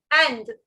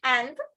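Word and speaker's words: Inde: softer sound, the, and you can remember it like the English word and, like shoe and sock, bread and butter, girl and boy, but instead of the, just pronounce it as the, and. So India is called and, okay, proudly say and.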